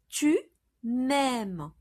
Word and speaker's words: tu m'aimes: to a French ear, you need to contract M, E into M apostrophe and pronounce it tu m'aimes.